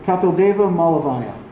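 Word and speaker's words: Kapildeva Malaviya: How do you pronounce that? Kapildeva Malavaya.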